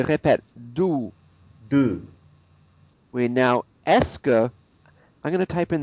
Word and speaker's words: est-ce que: And the pronunciation is like this. E-H-S-K-U-H.